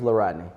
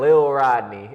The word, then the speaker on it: La'Rodney: not Lil Rodney, as Mr. Mike likes to say. It's Lil Rodney. Rodney. I actually used to have people call me that, Rodney.